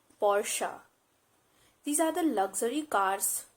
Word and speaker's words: Porsche: word is porsche porsche it's not porch or porsche it's porsche these are the luxury